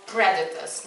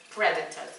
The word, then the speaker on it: predators: Just the pronunciation of predators, not predators. Am I right? Predators, they pronounce on the first syllable.